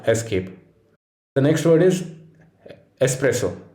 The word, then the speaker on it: espresso: word is espresso it's not espresso it's espresso while i can't express my word for espresso enough this word was borrowed from italian well after the latin prefix x had developed into s the next word is